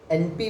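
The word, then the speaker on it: Empi: Okay, तो एमपी भी इसको एमपी भी कुछ लोग प्रोनाउंस करते हैं, कुछ लोग एनपी भी प्रोनाउंस करते हैं, ENPI।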